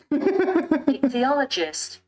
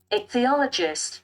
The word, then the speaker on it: ichthyologist: Ichthyologist. Oh. Ichthyologist.